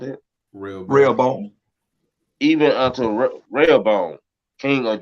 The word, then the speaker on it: Rehoboam: How you pronounce it? Rehoboam.